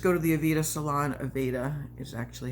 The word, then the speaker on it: Aveda: Aveda is actually how it's pronounced.